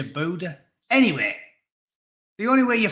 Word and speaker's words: Buddha: Is it Buddha or Buddha? I always used to say Buddha. Body like Buddha. But in America, they always say Buddha.